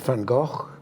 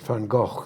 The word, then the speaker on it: van Gogh: Pollock or or Vincent van Gogh I pronounce it Van Gogh the the the Dutch way that he would have pronounced it not Van Gogh uh the um the